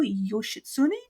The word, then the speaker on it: Yoshitsune: of the last night of minamoto no no yoshitsune did I say it right yeah and benkei